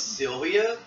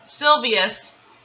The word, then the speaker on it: Silvius: You say his name was Sylvia? Silvius.